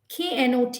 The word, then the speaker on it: knot: of the mirror and say knot not not not okay knit knit nit nit there are several words